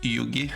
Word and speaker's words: Ugui: like an Asian fish I think it's actually pronounced Yugi like Yugioh if you remember who